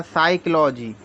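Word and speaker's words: psychology: यह प से ऐसे यहां पे होता है साइकोलॉजी तो पी से पढ़ते हैं प से लिखते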